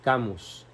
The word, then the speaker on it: Camus: Se escribe Camus, C-A-M-U-S, Albert Camus, pronunciación Albert Camus, porque es francés.